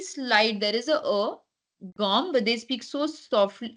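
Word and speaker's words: gomme: pronounced go yeah gum generally people make a mistake by saying gome but why a because e is a in front so G so there is a very slight there is a a gum but they speak so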